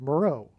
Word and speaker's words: Meroe: Moreau, which is spelled differently, but it sounds the exact same. And there is an ancient region of Kush, which is Ethiopia, named Island of Meroe.